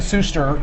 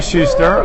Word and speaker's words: Suster: insight this man is on periscope at em sister yes just like on Twitter one of the very few people who actually pronounce my name correctly thank you most of all say schuster other parishes he heard a real deal here